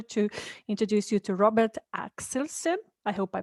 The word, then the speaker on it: Axelsen: So I'm Robert Axelsson. The pronunciation in Norwegian is Axelsen, but the English one is perfect.